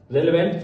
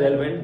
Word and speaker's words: relevant: पहला रेलेवेंट, इसे हम लोग पढ़ जाते हैं रेलेवेंट, जबकि हमें इसे पढ़ना चाहिए रेलेवेंट।